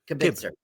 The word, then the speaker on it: kibitzer: Kibitzer. Yeah, Kibitzer. Like kibbles and bits.